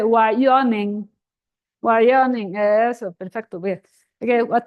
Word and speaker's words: Wyoming: Territorio de Wyoming, and then it has to have the stress on the O. Yeah. Wyoming. Territorio de Wyoming. Say Wyoming. Wyoming.